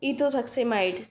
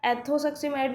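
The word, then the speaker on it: ethosuximide: में ई आता है, लेकिन अगर हम इसे प्रोनाउंस करें तो हम इसे क्या एथोसक्सिमाइड भी तो बोल सकते हैं ना, इथोसक्सिमाइड की जगह एथोसक्सिमाइड भी बोल सकते हैं।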